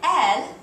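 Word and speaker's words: elles: of guys and then L which again sounds just like the word for she only has an S on the end but that s is silent so those are the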